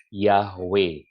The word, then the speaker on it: Yahweh: juga lebih mengindikasikan bahwa Yud He Vav He should be pronounced Yahweh.